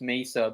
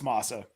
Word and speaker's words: masa: baking you mix it pronounce Mesa but I must put must be wrong on that one dude you are you are it's Masa so you take the